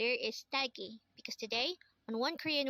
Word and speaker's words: 딸기: Talgi. Talgi. This is pronounced as a two-syllable word. The first syllable is ta, second syllable is gi.